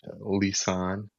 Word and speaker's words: Lisane: Thank you so much Lissan. I pronounced it the right way.